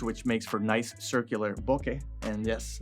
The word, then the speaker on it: bokeh: makes for nice circular bokeh and yes that's actually how you pronounce it it's japanese and the thread mount